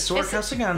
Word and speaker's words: Sora Kasugano: Sora Kasugano? See, I think you've already said it wrong, just by looking at it. Yeah, that's what it is. Sora Kasugano.